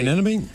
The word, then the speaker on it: anemone: Sea anemone?